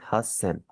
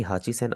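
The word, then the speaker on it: 八千: यनसेन 5000 Gaussian 6000 रुकुसेन 7000 नानासेन 8000 आपका काफी change हो जाएगा इसे आप पढ़ेंगे हसन कभी भी हाचीसेसन आप में से नहीं पढ़ना और फाइनली 9000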